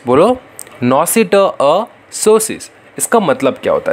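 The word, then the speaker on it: noscitur a sociis: Next है नॉसिटअसोसिस, बताओ, pronounce करो, नॉसिटअसोसिस, बोलो, नॉसिटअसोसिस।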